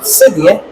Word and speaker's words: cedi: And cowrie shells in my tree language is pronounced or said cedi, and that is how the Ghana cedi got its name from.